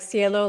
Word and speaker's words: Cielo: How do you spell it? Like cielo, like sky, or CLO?